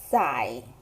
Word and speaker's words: 载: So the first pronunciation is 在 with the fourth tone. And it could be a verb, and the meaning is to carry or to load.